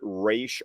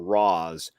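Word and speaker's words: Ra's: I have heard some people say that depending on whether you pronounce it Raish or Raz, one is literally a demon's head, and then the other one is more figurative, like you're saying head of state.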